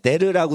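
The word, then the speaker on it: der: 이 빈 데어 헤르 데어라고 하고 데르라고도 하는데 데르라고 돼 있죠. 데르 근데 데어 이게 더 편한 거예요. 데어 어자 발음이. 그러니까 데르 옛날 발음인데 데어라고 만약해요.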